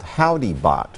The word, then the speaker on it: Howdy Bot: a new studio called Howdy Bot, which is combining the name of my first studio, which was Howdy, like, hello, Howdy, and Bot, you know, the last syllable of Moonbot.